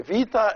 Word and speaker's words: vida: And the Vida is pronounced either a B or a V, depending on the situation.